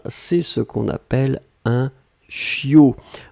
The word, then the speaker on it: chiot: ce qu'on appelle un chiot on écrit ça ch io t on ne prononce pas le thé finale je veux un chiot